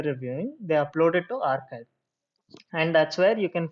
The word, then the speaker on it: arXiv: So I gave an example in my orientation session of archive. Archive is it's spelled ARXIV.